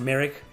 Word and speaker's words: Morag: moraga moraga in india in the game morag but she's pronounced merrick oh i love her